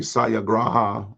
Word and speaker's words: Satyagraha: So this philosophy, Satyagraha, I think is how it's pronounced, of love and peace and nonviolent resistance, was tested in South Africa.